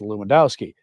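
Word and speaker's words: Lewandowski: stumble over the pronunciation of his last name, pronounced Luwendowski, leading many to call him Bishop Bruce."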